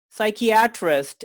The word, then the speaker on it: psychiatrist: Well, until like an hour before this interview, I was saying psychiatrist, and then I read as psychiatrist.